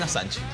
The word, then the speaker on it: Assange: Es Julian Assange, efectivamente. Julian Assange. Es una mezcla un poco entre francés Inglés.